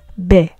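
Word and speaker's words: בֶּ: When in a context where it means in or in the something of, we'll explain that later on, we pronounce it as be.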